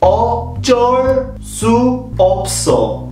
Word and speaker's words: 어쩔 수 없어: practice the pronunciation first Oh door su Opsahl the door is not a soft J it's a double J two J's so it's a hard J it's not all jars